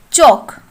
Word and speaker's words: chalk: Next, chalk. In this word, the letter L is silent.